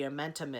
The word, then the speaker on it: omentum: to say what the omentum is she may even give you a rhyming thing I heard her one time say it rhymes with bow bentham so that is your clue to say omentum and hopefully you will